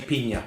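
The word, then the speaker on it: piña: mexican friend of mine online said no say pina you're not being a wanker i was worried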